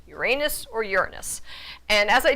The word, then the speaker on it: Uranus: of the sky was Uranus so in Greek that first syllable would be pronounced as an ooh not a u now you latinize it